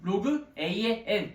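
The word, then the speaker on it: logₐn: x는 로그 a의 n이라고 쓰고 읽습니다. 다시 뭐라고 읽는다고? 로그 a의 n, 로그 a의 n. 이거 지 멋대로 읽으시면 안 돼요. 로그 a의 n이라고 읽으셔야 돼.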